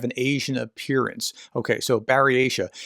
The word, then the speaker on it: Buryatia: I called it Buryata, Buryatia, I guess, yesterday. And this is what it actually is. Baryatia. Baryatia. Well, I got that way wrong.